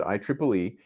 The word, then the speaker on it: IEEE: by the IEEE standard that's actually how you pronounce it IEEE and the standard that